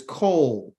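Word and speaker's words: קול: The Hebrew word for voice is called kol. Kol. You know, it sounds like cold, but it's kol.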